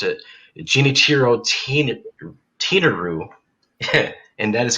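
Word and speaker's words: Genichiro Tenryu: Hiro Tenryu? Yes. Yes, when I was doing my research, I pronounced it Genichiro Tenaru, And that is correct for your second point.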